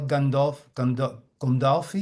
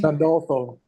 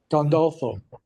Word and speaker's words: Gandolfo: And Steve, how do you say it? Castel Gandolfi? Gandolfo. Gandolfo.